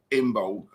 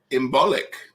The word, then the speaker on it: Imbolc: girt on the sea so it's imbolc like that i've heard it said that as well each to our own well i'm all about the bee so i like to say the bulk at the end but that would be wrong and jean said i